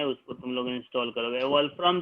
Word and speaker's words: Wolfram: वोल्फ्रम जो है WOLFRAM, जिसको स्पेलिंग नहीं पता है, हमको भी कंफ्यूजन था।